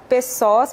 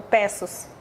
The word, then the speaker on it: Pessoa: agora é o Pessoas, presidente do Secov MT. bom dia. Eu falei correto o seu sobrenome? Pronunciei correto? Ou Pessos? Bom dia. O correto é Pessoa. É Zemudo, é de origem francesa.